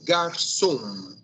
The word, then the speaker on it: garçom: Lembre que a palavra a pronúncia é garçom.